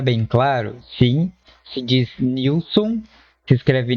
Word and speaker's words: Nielson: diz Nilson, se escreve Nelson, mas se diz Nilson. Só que durante o vídeo eu vou continuar falando Nielson, porque já é um costume, mas quando eu falo Nielson, já entenda que é a pronúncia correta é Nilson.